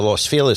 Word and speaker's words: Los Feliz: Dresden Room which is on Vermont in the Los FIS section of of Los Angeles proun it right you pronounced it right I don't say Los Feliz